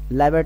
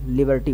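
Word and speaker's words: liberty: आपका number 13 लिबर्टी लाइब मत बोलिएगा लिबर्टी बोलिएगा क्या बोलेंगे लिबर्टी ठीक है तो उच्चारण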